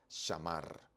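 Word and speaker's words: שָׁמַר: Comencemos Entonces el guardó se pronuncia shamar shamar o sham pero quedemos en shamar la tercera persona femenino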